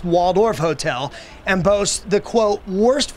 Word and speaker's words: Walled Off Hotel: artist known as Banksy it's called the walled off hotel or pronounced Waldorf Hotel and boasts the quote